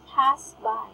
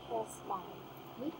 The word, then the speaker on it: pass by: This word is pass by, not pass by. Pass by. Pass by. Yeah, pass by. Pass by. It is a short A.